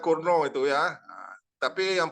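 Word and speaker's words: Cournot: Nah, bacanya Kurno itu ya.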